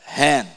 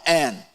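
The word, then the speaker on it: הֵן: Agora, hen. Hen, não en, hen.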